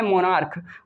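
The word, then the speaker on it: monarch: जैसा कि यहाँ पे लिखा हुआ है मोनार्क, मोनार्क में का की आवाज़ आ रही है, तो क्या करना है, सिर्फ और सिर्फ एस जोड़कर हमें प्लूरल बना लेना है।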